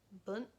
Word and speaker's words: bunt: but it's like boont, bunt, bunt, bunt. The U sound is kind of like the U sound in puss, like Puss in Boots.